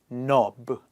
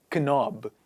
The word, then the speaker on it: knob: knit and finally the silent k word is Knob it's not knob it is Knob a lot of people